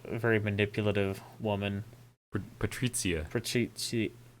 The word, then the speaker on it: Patrizia: I know exactly one Italian, and I know it would annoy him that I pronounce it wrong, and so that's worth it to me.